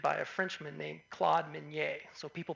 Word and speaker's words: Minié: These are called mini balls or Minié balls. This is a bullet that was invented by a Frenchman named Claude Minié.